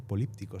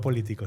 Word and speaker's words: políptico: políptico se dice. Sí, este político de políptico, no político, sino político de Gante.